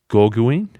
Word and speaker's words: Gauguin: It could be a philosophical paradox like Paul Gauguin. You shouldn't ask me about pronunciations.